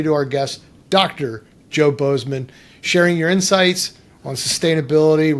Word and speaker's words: Bozeman: And it's Bozeman. Like Montana.